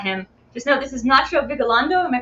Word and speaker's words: Nacho Vigalondo: Before you even know that about him, just know this is Nacho Vigalondo. Am I pronouncing that correctly?